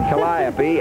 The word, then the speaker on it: calliope: pulling a genuine 1907 calliope. Now, that's the way the old-timers pronounced it, calliope, and there's our old friend Mickey Mouse.